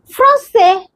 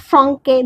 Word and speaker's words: français: garçon Next is français. Not francais, this is s français. Always pronounce this sound say the accent s.